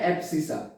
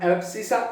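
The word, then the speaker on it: abscissa: तो guys, x coordinate को बोला जाता है एब्सिसा। हाँ गाइस, देखो, एक्स कोऑर्डिनेट को बोलते हैं हम एब्सिसा, उसका स्पेलिंग है ABSCISS।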